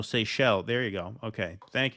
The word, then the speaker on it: Seychelles: It's French. It's French. So that makes sense because C-H-E-L, so Seychelles.